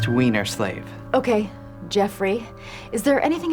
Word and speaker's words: Weinerslav: Excuse me, Mr. Weinerslav. It's pronounced Wienerslave.